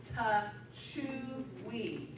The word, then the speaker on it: Techuii: Iaso Techui, nobody knew how to say it, it is Techuii.